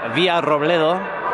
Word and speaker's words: Villarrobledo: Today's opponents are Villarrobledo, which is a really fun name to say if you know how to roll your R's.